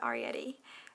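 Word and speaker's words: Arrietty: I think that's supposed to be Arietti. Is that how you pronounce it? Yeah, Arietti.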